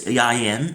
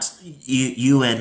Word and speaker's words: Ieuan: It's ieuan, not ieuan or ieuan or whatever I said last time in my other videos.